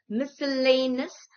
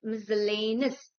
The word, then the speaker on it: miscellaneous: M I C E L L A N E O U S is not miscellaneous but miscellaneous.